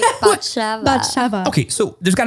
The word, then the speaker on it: Batsheva: And you're going to pronounce your name one more time? Batsheva.